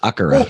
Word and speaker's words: Akira: Well, in Japanese, how do you pronounce it? because I watched the anime in Japanese. It's Akira.